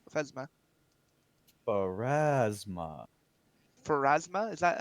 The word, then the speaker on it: Pharasma: Do you have any other altars here, or is it obviously are you mainly a place of worship for Phasma? Pharasma.